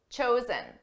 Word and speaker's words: chose: Choose, chose, chosen. Notice the pronunciation difference between our base verb, choose, and the past and the participle. Choose, chose. Ooh, oh.